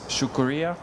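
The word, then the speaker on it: شکریہ: And then in Urdu, it's shukuriya.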